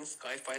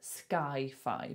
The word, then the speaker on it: sci-fi: scouting for locations to shoot his upcoming sci-fi thriller. The movie has many intense scenes. Good. Sci-fi. That's how we say that one. So science fiction is sci-fi instead of sky-fi.